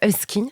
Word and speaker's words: Usky: Enfin, à tes côtés, Husky, est-ce que je prononce bien ?